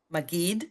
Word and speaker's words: Maggid: She's an ordained, how do you pronounce that, Maggid? Maggid, yes.